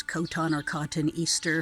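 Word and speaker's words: Cotoneaster: I don't know how to pronounce this, but it's Coton or Cotton Easter for some reason, and it is a big favorite with the bumblebees.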